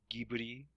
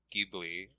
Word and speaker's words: Ghibli: corrupted the pronunciation of Ghibli which is meant to have a G sound as a gift rather than a Jason